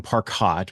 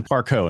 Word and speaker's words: Parcaut: And I went to Parcaut, and I got a lot of from that, but it's the French pronunciation of it.